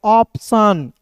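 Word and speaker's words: option: यहां देखिए ओ है तो याद रखना ओ बीच में आए या शुरुआत में आए ओ का दोस्तों हम लोग पढ़ते हैं औ के रूप में उच्चारण करते हैं। ठीक है? और पी है तो दोस्तों आधा प और टी आई ओ एन को दोस्तों पढ़ेंगे सन तो क्या हो जाएगा दोस्तों? ऑप्शन।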